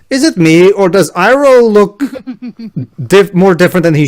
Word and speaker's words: Iroh: Ba- Iro. Iroh.